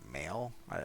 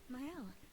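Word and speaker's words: Maelle: Yeah, Male? I still don't know what how her name is pronounced. Oh, hi, Sophie. Oh, Mael. Male, okay.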